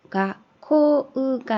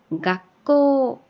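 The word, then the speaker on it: がっこう: 밑에도 키프가 아니라 기쁘 여기는요 가코우가 아니라 가꼬 요렇게요.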